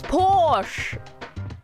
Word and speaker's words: Porsche: that por POS por it's Porsche I'm saying it with an R okay I mean to